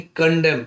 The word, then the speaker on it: condemn: वैसे ही कंडेम, CONDEMN, तो last का एन साइलेंट है, तो कंडेम, कंडेम मतलब निंदा करना, तिरस्कार करना।